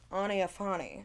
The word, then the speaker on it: Aniafani: and it was called Aniafani, is how you pronounce it if you want it to sound more expensive, but it was one of one. Mm. And Aniafani.